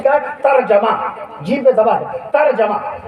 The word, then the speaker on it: ترجمہ: सही तलफ़्फ़ुज़ ترجمہ نہیں ہے، ترجمہ نہ کہا کیجیے، صحیح تلفظ کیا ہے؟ ترجمہ، جیم پہ زبر ہے، ترجمہ۔ وضو نہ کہا